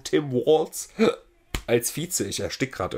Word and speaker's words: Tim Walz: Kamala, Tim Walz, richtig deutsch ausgesprochen, Tim Walz als Vize.